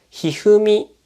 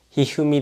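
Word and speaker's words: 一二三: この漢字、3 文字でひふみと読みます。ひふみだよ。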